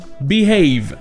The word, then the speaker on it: behave: Et ici, même si on a un mot avec les mêmes origines que have, ça se prononce bien have, avec le son A, behave.